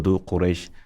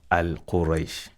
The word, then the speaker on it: Quraysh: We have here Surah Quraysh, not Al-Quraysh.